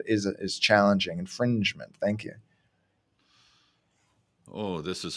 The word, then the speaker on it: infringement: our intellectual property rights that's right that g sound infringement and it's gonna come